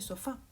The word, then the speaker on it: sofá: Aquí vemos el caso de sofá. Sofá es una palabra que termina en A, es decir, debería pronunciarse sofá.